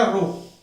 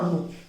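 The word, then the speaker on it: rho: इस रो को अपन कहते हैं रो, क्या प्रोनाउंस क्या मैंने बेटा, रो, है ना, रो।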